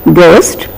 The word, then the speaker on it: ghost: what is written here G is not aspirated most of us because of the influence of the mother tongue because H is there we tend to say G please remember it is not ghost ghee but it is Ghost and ghee we have to say it in a plain and lighter manner not in a stressed aspirated manner I repeat there is